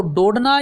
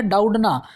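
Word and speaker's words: Doudna: दूसरा जेनिफर डाउडना, तो डोडना या डाउडना, ये भी दोनों ही नाम ठीक माने जा रहे हैं। थोड़ा सा लेखन में, उच्चारण में अंतर हो सकता है।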